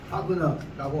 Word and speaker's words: Wagner: 독일말은 W는 V자 발음을 낸 것이 독일 발음이기 때문에 바그너라고 합니다.